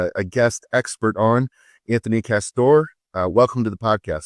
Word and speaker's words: Castore: And uh by the way, am I pronouncing your last name correctly, Castor?